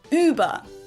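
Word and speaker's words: über: versus uba uba uba you can try to make the sound by saying ooh and then again I kind of feel like I make my mouth a little bit more narrow and ooh becomes ooh ooh ooh or you can also try doing this and just keep your lips the exact same but try to pronounce e at the same time I've heard that helps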